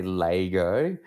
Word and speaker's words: Lego: do you pronounce lego well being from adelaide we say lego don't ask me why or how on earth that came to be but it's just an adelaide thing and it seems to be i think one of maybe two places in the world that pronounce it like that i think somewhere